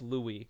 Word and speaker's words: Louis: Okay, not Lois. It's pronounced Louis.